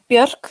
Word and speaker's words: Björk: Is that how you pronounce it? Yeah, Björk, yeah.